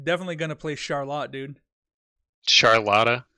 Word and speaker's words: Charlotta: gonna play Charlotte dude charlotta charlotta that's how you say it yeah dude you know